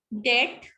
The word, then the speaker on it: debt: ठीक है, डेट, DEBT, डेट, ब साइलेंट है, इसको नहीं बोला जाता है.